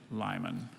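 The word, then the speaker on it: limen: are there any alternates just the one pronunciation lyman can i have the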